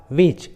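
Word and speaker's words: which: जैसे what, when, Y, विच, where, देखिए सभी इंग्लिश वर्ड्स में एच डब्ल्यू के बाद आया है, इसलिए एच साइलेंट है, एच का उच्चारण नहीं किया गया है।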